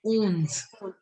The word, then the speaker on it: onze: And 11. ONZE. So owns. Not owns. It's owns.